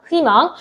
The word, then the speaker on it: 희망: 어, 뭐라고 했냐면 자음을 첫소리로 가지고 있는 의는 2로 발음하더라. 이렇게 얘기했습니다. 이게 무슨 말이냐? 자음일 때는 무조건 이야. 그러니까 애초에 의라고 발음하는게 존재하지 않고 무조건 다 이야.